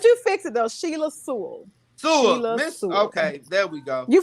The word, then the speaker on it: Sewell: butchered your last name coming in can you pronounce your last name one more time but you fix it though sheila sewell okay there we go you fixed it it's